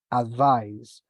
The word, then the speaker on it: advise: attention to this letter because if it is a noun is with the letter c advice and as a verb is advice so the pronunciation changes as well as the letter this one is with the letter S and this one is with the letter z advice advise so what's the adjective